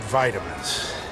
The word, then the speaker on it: vitamin: say the word is in the UK you'll hear vitamin with a small eye but in the u.s. it becomes vitamin as though